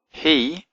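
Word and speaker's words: הִוא: He, even though it's got a vav in it, it's got the herek, so it's actually pronounced he.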